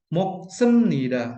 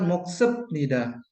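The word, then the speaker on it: 먹습니다: Jika digabungkan, menjadi "mok semnida." Begitulah cara membacanya. Bukan "moksep nida." Ditulis sebagai "moksep nida" tetapi dibaca sebagai "moksem nida." Bunyi "P" menjadi "M," seperti dalam kata " gamnida," yang dibaca sebagai "M."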